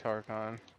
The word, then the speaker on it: Hakon: Scared the shit out of me, Hacken? Is that how you say his name? I keep wanting to call him Harkon. It's Harkon.